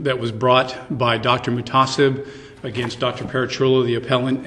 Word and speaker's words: MUHTASIB: Can somebody help me with the pronunciations? I'd use MUHTASIB.